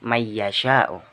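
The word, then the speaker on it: من يشاء: Man yasyau diucapkan menjadi may yasyau.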